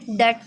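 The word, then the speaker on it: debt: Next है autumn में N silent है, शुड में एल साइलेंट, डेट में बी साइलेंट, हाइम में एन साइलेंट।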